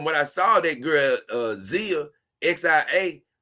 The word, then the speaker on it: Xia: Now, from what I saw, that girl, Zia, XIA, her name is spelled XIA, I think it's Zia, on the Simpcast that